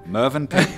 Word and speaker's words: Mövenpick: As I just learned that we pronounce Mövenpick, correct? Mövenpick.